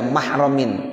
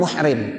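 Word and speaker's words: محرم: bihadrati ghairi nahwi ya mahramin. Ini bacanya mahram ya, bukan muhrim. Kalau muhrim orang lagi ihram ya, kalau mahram ya yang masih saudara ya itu.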